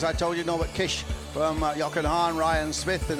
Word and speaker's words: Kiss: at Kish would spell Kos kiss but it's pronounced Kish so that truck turns off into the paddock